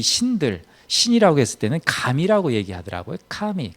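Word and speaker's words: 神: 카미 이렇게 발음하는데, 이 가미 이렇게 발음해도 될 것 같아요.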